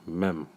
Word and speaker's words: Mem: This is Psalms 119, verse 97, Mem, which I believe in Hebrew is pronounced as Mum.